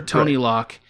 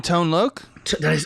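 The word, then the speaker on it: Tone Lōc: on the gag and those two characters are tony lock who plays emilio the detective who ace ventura interrogates with his ass do you mean tone look oh what did i say tony no tone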